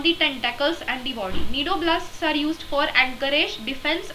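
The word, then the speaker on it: cnidoblasts: the name need area is derived from the needle blasts or needle sides which contain the stinging capsules or pneumatocytes see it is actually pronounced as needle needle sides or needle blasts but the spelling is cni d o b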